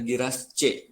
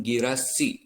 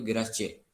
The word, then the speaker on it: Giras C: Sekali lagi ya, ini nyebutnya nanti pelafalannya kalau misalnya kalian mau bikin iklannya itu adalah Giras C, bukan Giras C. Lagi pakai pelafalan Indonesia yaitu Giras C.